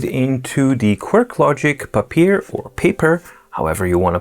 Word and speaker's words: Papyr: But yeah, it's supposed to be called paper, but I've been calling it Papyr so much that I'll just continue calling it like that.